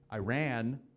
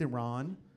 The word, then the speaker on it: Iran: I was doing a show, and I was speaking about Iran, not pronounced that way. How do you say it? That was my mistake. I made a mistake. But there was a woman in the audience from there. She got upset. She stood up and corrected me. It was embarrassing. She goes, "It's pronounced Iran.